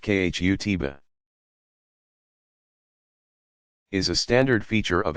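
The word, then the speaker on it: khutbah: sermons like you an address called the khutba pronounced khu tiba is a standard feature of every friday congregational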